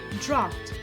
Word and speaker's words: draught: British English, pronounced like draft, with an R sound rhyming with laughter, so draft.